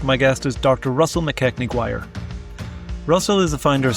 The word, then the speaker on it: MacKechnie-Guire: Okay, so today we are joined by Russell MacKechnie-Guire.